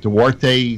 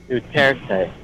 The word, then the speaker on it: Duterte: Duarte likes him. They all like him there. Duterte. Yeah. Well, if I mispronounce his name, he'll kill me.